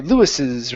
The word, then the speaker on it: Lewis's: Okay, Lewis's right here. So with this apostrophe S, okay, we pronounce another S sound.